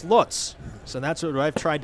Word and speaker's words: Lutz: pronounces his last name everyone says Lots but he says in Germany it's Lutz so that's what I've